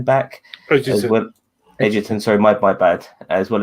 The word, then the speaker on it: Edgerton: It's good to see Joel Edgerton back. Edgerton, sorry, my bad.